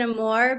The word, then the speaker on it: Amour: It's Amour, right? Amour? More. Amour. Okay, Amour. I asked who you are. So if you're American, you would pronounce it Amour, but if you're French, you have like ugh.